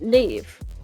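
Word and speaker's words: Niamh: It's N-I-A-M-H. Yes. And it's pronounced Neve.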